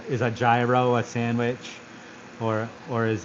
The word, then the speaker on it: gyro: But when you think about the word the hero came from that hero sandwich came from gyro that's like because it's actually I think the original pronunciation is like hero hero I think you got to freaking get that um something.